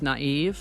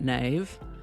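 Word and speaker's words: naïve: come to know that they're pronounced naive not Nave Noel rather than Noel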